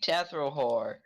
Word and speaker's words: Tethrohor: Alright, we got, Pinky Tethrohor. It's not spelled how you think it is, probably. The last name is Whore. Tethrohor. The last name is Whore. It's spelled H-O-R-H, not W-H-O-R-E.